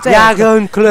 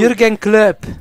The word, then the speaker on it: Jürgen Klopp: No, guarda, oggi lo sto pronunciando tecnico, lo sto pronunciando tecnico, certo. Jagan Club.